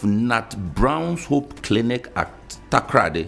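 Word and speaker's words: Takoradi: It says, the chief executive officer of Nat Brown's Hope Clinic at Takrady. How do you pronounce Takrady?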